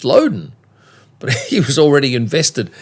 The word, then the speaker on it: Loudon: She says, well, no, I'm Mrs. Loudon. That's how you pronounce it. And I said, oh, okay, everybody's pronouncing it Loudon. She said, yes, but it's actually Loudon.